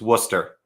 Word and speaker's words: Worcester: jason come again i live 45 minutes from worcester you pieces of ruby rubio had it right the entire time every single time every single time it's worcester okay um interesting you know our rce i'm